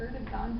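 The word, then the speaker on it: Erdoğan: It's Erdogan, but like... Yeah, but I think the Turkish pronunciations are very different. Is that, because I like kind of swear like a million times. I'm pretty sure you're actually correct on the pronunciation, but it's spelled with a G. Okay. But I'm almost certain that a G in Turkish is pronounced like a W sound.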